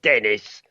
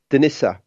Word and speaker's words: Denis: the West you know it's not Dennis you know like I might say in England you know Lorraine it's you know denisa and you know and